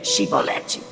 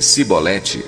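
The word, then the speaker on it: Chibolete: Se respondesse que não, diziam: Então diga Shibolete. Se ele dissesse Sibolete sem conseguir pronunciar corretamente a palavra, prendiam-no e matavam-no no lugar de passagem do Jordão.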